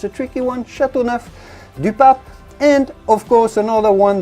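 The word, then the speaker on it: Châteauneuf-du-Pape: your selection chateauneuf-du-pape if you're wondering how to pronounce this i know it's a tricky one chateauneuf de pape and of course another one that you had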